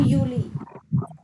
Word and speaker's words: Juli: अप्रैल नहीं, अप्रैल है, अप्रैल, मई, यूनी, यूली, यूली बोलते हैं, अगस्त, सितंबर, अक्टूबर, नवंबर, दिसंबर।